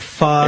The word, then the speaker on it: pho: P-H-O, pho. Yeah. Oh, they don't pho. Pronounce it pho? No, it's like Vietnamese, they say pho.